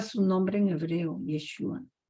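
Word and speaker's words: ישוע: Jesús el que resucitó yeshúa su nombre en hebreo yeshua yeshua Esa es la pronunciación correcta No Jesús no Jesús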